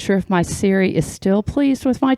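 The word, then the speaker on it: Serey: The Apple Siri is not spelled like my sister's Siri, which is S-E-R-E-Y, but is pronounced the same. Now my sister's name is uttered by everyone on earth seeking an answer. I'm not sure if my Siri is still pleased with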